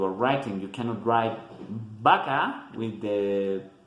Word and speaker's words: vaca: We should pronounce it like V, like in English, in Spanish, vaca, but that is not the case. Most of the time we just say vaca, and there is no problem.